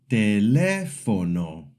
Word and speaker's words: teléfono: Teléfono. The accent mark shows us the second syllable is strong.